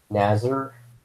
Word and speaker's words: Nasir: ] piece of it's not pronounced right so professional of me Google oh my god just nazzer as a samurai's know what's on here whatever